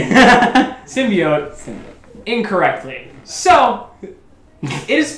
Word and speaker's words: symbiote: Symbiote incorrectly. So, it is pronounced symbiote. Symbiote. In the movie, they say, what is it? Symbiote? Symbiote. Symbiote. Symbiote. There's an O in the word.